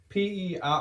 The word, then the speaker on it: Perrineau: Number 2, I would put Harold Perrineau. Boyd, basically. Boyd, yeah. Is that how you say it? Perrineau.